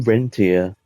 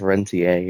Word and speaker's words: Rentier: Everybody calls him Rentier, but it's actually pronounced Rentier.